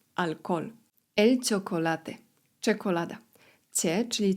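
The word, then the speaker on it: alcohol: Litera H w języku hiszpańskim jest nie ma, nie wymawiamy jej. Alkol.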